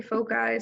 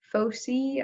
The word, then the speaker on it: foci: some people say foci some people say pho see I don't know a folksy latter so we're gonna call them foci or focus points but the pronunciation there is a little bit ambiguous you've got a little bit of play there um so the